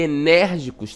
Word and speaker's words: enérgicos: Nós temos aí um som aberto, Diferente ali do bebê, que o som é fechado, colégio e enérgicos tem aí sons abertos, certo?